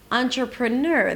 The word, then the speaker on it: entrepreneur: So first of all, the primary stress of this word is at the end. Ner. Entrepreneur.